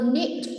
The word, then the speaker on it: knit: Còn từ knit chúng ta âm câm nhá, từ knit quá khứ của nó là knitted.